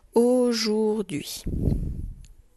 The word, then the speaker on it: aujourd'hui: Voici comment on écrit aujourd'hui. Le son O a U comme dans jaune. Jour, je fais chanter le son D. Et après, je n'oublie pas l'apostrophe et UI avec le H muet.